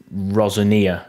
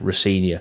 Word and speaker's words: Rosenior: um but thank you we will mention rosania sorry not rosania Rosia I will make sure to say rinia it might slip out a few times rosania just like it did then just as a disclaimer